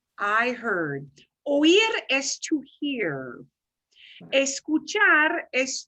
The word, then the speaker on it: oí: Oí el ruido en la calle.